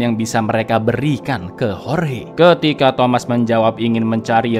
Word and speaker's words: Jorge: Tulisannya Jorge tapi bacanya Jorge lur, oke?